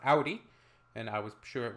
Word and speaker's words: Audi: So far, I was right for the Audi one because it's pronounced Audi, and I was sure it was pronounced Audi, not Audi.